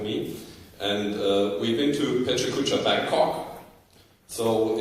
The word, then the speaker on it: Pecha Kucha: In Germany, we pronounce it Pecha Kucha. And that might be a bit of my Swabian accent coming through there.